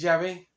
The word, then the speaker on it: Yahvé: y todo de que la pronunciación correcta, la más probable, perdón, que es Yahvé, como uno dice Yahvé, Yahvé, es de ahí donde se saca la pronunciación Yahvé.